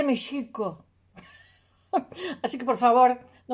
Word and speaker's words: México: se estuvo escribiendo y no se pronunciaba MEX, no, se pronuncia SH. Y no es esdrújula, sino grave, porque el náhuatl es grave. Entonces se dice mexico.